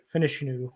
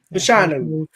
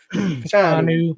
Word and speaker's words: Fashanu: They're going to take offensive tackle out of Penn State, Finishnu, or however you say his name. You were close. Fashanu. Fashanu.